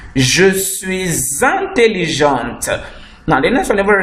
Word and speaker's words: intelligente: You say a girl will now say je suis intelligente. The T will be pronounced. Je suis intelligente.